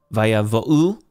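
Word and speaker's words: ויבאו: Remember the Aleph is a guttural, so it's technically not even pronounced. So we have the vo, and then a little bit of a pause. You could say an apostrophe, and then u with the shirk.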